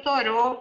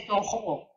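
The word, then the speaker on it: Thoreau: lá entre eles mesmos a pronúncia variava, porque como uma parte da família tinha origem francesa, havia quem dissesse Toro. O Channing, o grande amigo dele, chamava ele de Toro, inclusive grafava com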